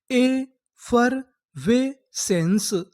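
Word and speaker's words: effervescence: आपको पता है कि आखिरी में ई है, हमें ई का उच्चारण नहीं करना। तो हमारी पूरी मीनिंग क्या बनी, ए फर वे सेंस, एफरवेसेंस, एफरवेसेंस।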